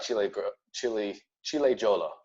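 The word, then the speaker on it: Ciliegiolo: But here, this is what they say about Chile Jolo is how you pronounce it.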